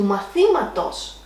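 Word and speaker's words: μαθήματος: To mathimatos, we have an extra syllable added in possessive, so we're going to drop the accent. So the accent doesn't go further than the third syllable from the end.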